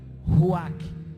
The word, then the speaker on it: ruach: E o mais interessante é que essa palavra hebraica, ao ser pronunciada, você sopra, ruach. Não dá para falar ruá sem soprar.